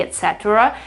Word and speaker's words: etc.: That's not so bad if you say etc. So you have a kind of a schwa there, but etc. is probably more easy. You don't indulge in a sound that may become wrong if you pronounce it too strongly. So I'd say that you can, yeah, you can remember there's this part here, but you can also forget about it.